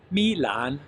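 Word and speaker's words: 蜜兰: Milan means honey orchid, and it is a falling tone and a rising tone.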